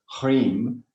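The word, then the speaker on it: hrim: to send this mantra hreem h r i m right pronounced up through the central channel making it very nasal at the nasal area to pierce through the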